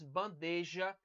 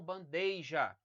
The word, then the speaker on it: bandeja: pronunciar freada Ok e Aqui nós temos bandeja e não bandeja certo nós não temos um ditongo aqui sobre a substituição de